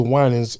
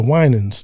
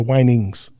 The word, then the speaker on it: Winans: And I was coming home and I heard on the radio, they said the Winans. And the guy mispronounced, he called the Winings.